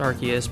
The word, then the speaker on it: Arceus: who you ask i'm just going to say arceus i know it's technically pronounced arceus but at the same time we all know